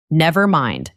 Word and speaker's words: nevermind: The stress is on the second word, nevermind.